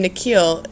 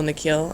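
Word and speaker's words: Nikhil: down at his sneakers the way the principal pronounces his new name is different from the way his parents say it the second part of it longer sounding like heel she bends down so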